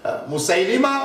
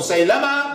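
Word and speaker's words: مسيلمة: Was Musaylima or Musaylama, both pronunciations, was he in that gathering?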